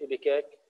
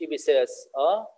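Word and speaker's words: ipecac: وفي دواء ثاني ايبيكاك سيرب، شايفين اسمه حلو بنتساش، ايبيكاك سيرب مش ايبيساس، ايبيكاك تلفظ سيرب، اللي هو كلاسيفيكيشن برضه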